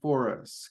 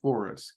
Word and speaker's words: Foras: we go kman vaa for us kmana Forest kman V forest cmanva forest cmanva forest cmanva forest okay you'll notice my pronunciation changed um this one I've heard it both ways and for whatever reason